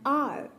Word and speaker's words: hour: For example, I shall be back in an hour. R, H-O-U-R. So this noun starts with H, but the H is silent and we pronounce it as R, R.